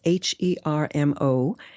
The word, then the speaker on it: Hermosillo: That's Hermosillo. My impeccable Latin pronunciation.